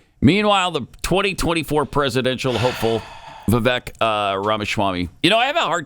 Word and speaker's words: Vivek: I have a hard time calling him Vivek because Glenn and Stu are the only ones on this planet that call him Vivek. Everybody else says Vivek because that's how it looks. That's how it's spelled.